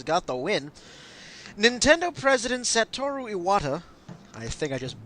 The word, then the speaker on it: Satoru Iwata: Nintendo President Satoru Iwata, I think I just butchered that name, but that's okay. Satoru Iwata.